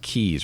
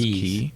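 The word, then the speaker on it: quay: little DIY they're pronounced keys right q u a y isn't that pronounced key key yeah okay yep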